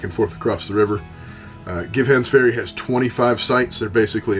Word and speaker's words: Givhans Ferry: Givhans Ferry, and we were told it is Givhans Ferry is how it's pronounced, because that was the gentleman's name that had a little ferry that went back and forth across the river. Givhans Ferry has 25 sites.